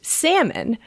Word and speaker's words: Salmon: episode we were like oh is it pronounced daniel salman or daniel salmon yeah person who salmonella is named after so someone tweeted at us and said it's pronounced salmon because he is one of her ancestors which